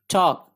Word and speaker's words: talk: TALK टॉक, L silent है टॉक, टॉक गुफ्तगू करना बात करना।